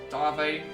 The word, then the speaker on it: Darve: Also, if you're wondering why I'm saying Darve instead of Dave, it's because they pronounce the guy's name in the thing as Darve, so that's why I'm going with that.